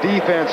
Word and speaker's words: defense: to sit here and yell at Sam Huff defense defense all of a sudden we start saying